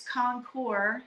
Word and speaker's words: Concours: Arizona started its own Arizona concourse. Yeah, very good. very nice show. Excuse me, gentlemen, it's Concours. You don't pronounce the Sorry.